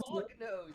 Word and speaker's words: Polyphilus: I thought it was polyphallus. Uncharacteristically furry. I'm pretty sure it is polyphallus. I think it is polyphallus. It's pronounced Polyphilus.